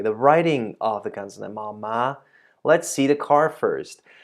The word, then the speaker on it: ม้า: ma and then the mark word ma high tone ma ma ma ma